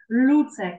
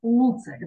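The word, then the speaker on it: Lucek: Ми так представляємо, що це у нас ли з м'яким знаком. Сама по собі літерка ли. Вона м'яка буде, так? Люцек, щоб не було, наприклад, луцек, да? Люцек, люцек.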